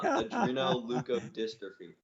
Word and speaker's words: adrenoleukodystrophy: on the pronunciation but i've got yudri no lou code dystrophy that's close so it's uh adreno leuco dystrophy that's that was pretty